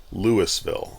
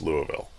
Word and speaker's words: Louisville: Uh several times in this video I um call uh Louisville Lewisville.